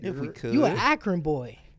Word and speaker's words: Akron: You an Akron boy. Akron. AK Run. AK Ron. That's how they say it.